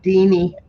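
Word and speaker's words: Deanie: making up my list for my drawing it's deeney deeney how do you spell it d-e-a-n-i-e d-e-a-n-i-e okay got it i know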